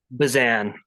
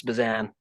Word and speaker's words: Bezan: Bezan. It gets screwed up all the time. It's Bezan. I definitely would have got that wrong. So Bazan, welcome to Ranching Reboot.